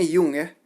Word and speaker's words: Jung: psychoanalysis diantaranya da kyum ini tulisannya Jung tapi dibahas dibacanya yongyea Lalu ada karet home